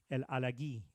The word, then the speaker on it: El Alagui: He said, everybody's been saying my name wrong. He said, it's Alagui, El Alagui.